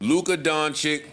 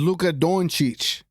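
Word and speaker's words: Dončić: to say Luca's name this is not how you say it Luca donic Luca donic it's not Luca doni it's Luka donich Don chich like chich and Chong cheich Don chich Luca Dawn cheich it's pretty easy I'm not going to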